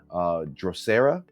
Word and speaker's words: Drosera: But yeah, today I am checking out a band called, if I'm messing up their name, I'm sorry guys, Drosera. I think that's it. That's how you say it.